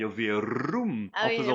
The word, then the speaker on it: Verum: italien il y a Verum Ah en oui, faisant la rouler, prononciation. elle va dire Ave Velum, elle va mettre un Ah L.